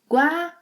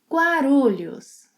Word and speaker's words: Guarulhos: Guarulhos. Guarulhos. I must arrive at Guarulhos Airport at 7 in the morning. Eu devo chegar, yes, I must arrive, eu devo chegar em Guarulhos às 7 horas da manhã.